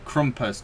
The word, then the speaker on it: Krampus: uh Leo fun fact it's actually pronounced krumpus due to it being Germanic so you can imagine